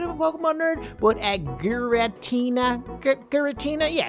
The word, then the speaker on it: Giratina: a little bit of a Pokemon nerd, but Giratina? Giratina? Yeah, it's Giratina.